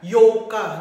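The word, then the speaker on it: ようか: Yan po ay yoka, no? Kung papansin niyo yung pronunciation ng bibig ko, kung pakikinggan niyo maigi, yoka.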